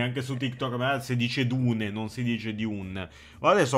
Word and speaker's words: Dune: chiudere sono le 11:00 ci siamo comunque si pronuncia Dune e non Dun Ma sei sicuro ma secondo